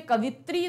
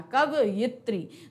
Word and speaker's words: कवयित्री: गड़बड़ी होती है, इसीलिए उसे कवित्री तो आप कभी प्रोनाउंस मत किया करो, उसे हमेशा मैं बोल कैसे रही हूं, ध्यान देना, कवयित्री। तो कवयित्री अगर आप बोलोगे तो कवयित्री लिखोगे भी।